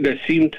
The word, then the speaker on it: Nassim: Am I pronouncing that right? Nassim? No, Nassim? It's Nassim Taleb.